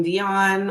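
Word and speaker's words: Dionne: please visit my website my name is unique it's pronounced like Seline Dion or Dion Warick take your pick but it's spelled uniquely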